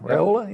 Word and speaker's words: Raiola: Dylan Raiola, is that how you say it? Yeah, Raiola, yeah.